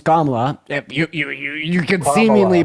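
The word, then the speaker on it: Kamala: of camela first of all her name's kamla you you you could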